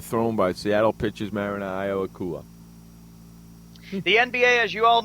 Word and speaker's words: Iwakuma: How about that, Ayakuma? Yeah, whatever. Ishikawa Ayakuma, whatever his name is, I apologize. Iwakuma, is that how you pronounce it? I think it said Iwakuma. Iwakuma, yeah, you're right.